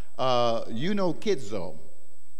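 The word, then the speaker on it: εὐνουχίζω: And there's a Greek word that signifies this, and it's pronounced eunokizo.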